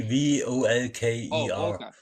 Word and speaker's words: Volker: german really how to how do you pronounce it i'm probably like me v-o-l-k-e-r yeah volker like okay oh okay yeah